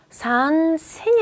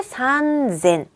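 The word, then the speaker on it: 三千: 그래서 산센이 아니라 혼자서 산쟁이 돼요. 쭉 보세요. 혼자서 젠이 되죠. 앞에 혀끄 100단위에서도요. 혼자서 산 벽구가 됐었어요. 그래서 얘도 똑같이 산젠. 얘만 산젠.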